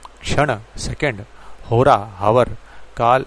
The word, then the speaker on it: कृष्ण: calendar कृष्ण वंश माने क्रश्न य जो क्रश्न क्रश्न कहते हैं यह क्रश्न शब्द अपने आप में कृष्ण वंश का गलत उच्चारण है दुनिया भर में भगवान